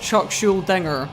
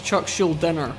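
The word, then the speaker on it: Chuck Schuldiner: Now, I have no idea why I pronounced Chuck Scheldinger's name with a G. It's not Chuck Schudinger, it's Chuck Schuler.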